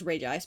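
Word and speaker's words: Regice: It's Reg Ice, but I pronounce it Reggie Ice because I'm old.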